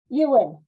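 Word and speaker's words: Euan: So it's E-U-A-N. Ewan, Yuan. Yuan Uglow. like Ewan McGregor.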